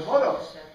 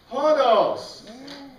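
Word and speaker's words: ὁδός: But hodos. And this, we usually say team hodos.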